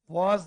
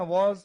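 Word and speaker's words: was: हाँ, और इसे वॉज पढ़ते हैं, वाज नहीं, वाज नहीं, वॉज। जब भी डब्ल्यू का उच्चारण इंग्लिश लैंग्वेज में होता है तो आपके माउथ का, मुंह का शेप गोल बनना चाहिए।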